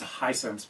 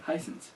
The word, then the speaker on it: Hisense: Yeah, that's Hisense, by the way. Hisense. I said that. Hisense. You left out the second S.